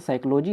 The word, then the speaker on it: psychology: सबसे पहले तो यहाँ पर जान लीजिए, जो यहाँ पर साइकोलॉजी होता है उसमें पी से शुरू होता है, अर्थात PSYCHOLOGY होता है साइकोलॉजी का मीनिंग, ठीक है।